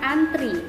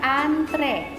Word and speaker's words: antre: Kita juga sering sekali menggunakan kata antri. Yang benar adalah antre.